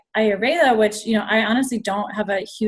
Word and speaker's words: Ayurveda: Oh, so I never know how to pronounce it. I always read it and don't say it. Oh, you can say like Ayurveda.